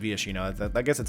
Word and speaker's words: Viashino: Next up here, we have is it Vaishino Pyromancer, is how you pronounce it correctly. 2 mana, 2/1. Vaishino Wizard, or Viashino Wizard. I guess it's Viashino.